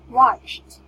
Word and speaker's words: watched: Like, it's watched. The letter T. Okay. Then we should sound ED like T. Okay. Or we should pronounce ED, sorry. Should pronounce ED like T.